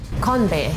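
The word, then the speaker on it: 건배: Konbae.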